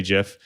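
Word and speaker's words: GIF: every week that's right i did say jiff because you know the father of jeff just passed and uh you know he actually told us how to say it so we have to follow what he said right uh but but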